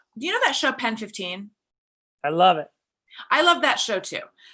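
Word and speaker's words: PEN15: he think that the title of the show is actually pronounced penis? Because I think it's Pen 15.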